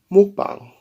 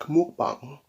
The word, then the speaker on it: mukbang: Mukbang. I feel like I have to throw my head back. Mukbang. To say it right.